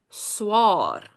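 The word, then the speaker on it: swaer: But now we change it up and your brother-in-law is called swaar. Swaar. Don't get confused with the AE. It is just pronounced the same as if it was swaar.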